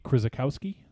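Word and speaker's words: Krzykowski: directed by a first-time feature filmmaker Robert critic Chris Bukowski I think is how you say that krz Chrissa Kowski was it is that correct yes okay thanks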